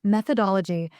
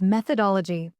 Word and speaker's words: methodology: He mispronounced methodology as methodology in a client presentation once. Three syllables where there should be five, and no one corrected